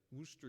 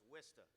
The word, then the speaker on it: Worcester: We've got Worcester University. That's not right. Is that how you say it? No, it's Worcester. Worcester.